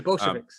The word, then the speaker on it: Bolsheviks: as per se, the Bolshevik, how do you pronounce it? The Bolsheviks. The Bolsheviks.